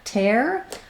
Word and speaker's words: tear: with tier and Pier then looking at tear it has the air diphthong so we do have some words spelled with ear that don't say ear they say Air instead like tear or pair the fruit usually we spell the